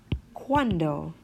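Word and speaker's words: cuando: you combination such as in the question word quando which means when quando or quad which means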